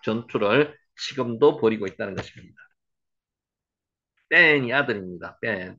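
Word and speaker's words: בן: 벤이 아들입니다. 벤 한번 해보세요. 벤. 여기에는 벤이라고 썼지만은 쌍비읍으로 발음이 됩니다. 벤. 여기 경강점이 들어가 있기 때문에 그렇죠.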